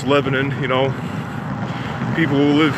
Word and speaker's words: Lebanon: around here call it keep in mind it's pronounced Lebanon not Lebanon like the country it's Lebanon you know people who live here in the